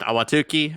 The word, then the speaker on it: Ahwatukee: But yes, the Ahwatukee Golf Course is an actual reporting point, and yes, it is pronounced Ahwatukee.